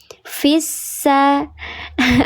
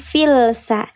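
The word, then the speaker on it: فِي السَّ: Namanya lam syamsiyah atau disebut juga idgham syamsi. Dibacanya dia dileburkan langsung ke huruf sin yang bertasydid. Fissa bukan filsa.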